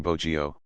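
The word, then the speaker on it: bohío: Aún conservamos los vocablos indo-antillanos bohio, bijao, dejao, jujo, pitahaya y otros más, escritos con h, para fallar la aspiración india, y que se pronuncian bogio, bijao, dejao, fujo y pitahaya.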